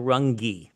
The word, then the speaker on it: Runge: One such person everyone must remember is Marshall Runge. That's his actual pronunciation, the author of The Great Healthcare Disruption.